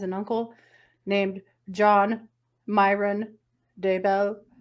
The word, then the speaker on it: Daybell: How do you spell that? D-A-B-E-L? Daybell. As I said, Daybell.